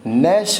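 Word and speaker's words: gnash: चलिए, नैश है अगला वर्ड, नैश। इसमें GN वर्ड आपका साइलेंट रहेगा, ठीक है ना।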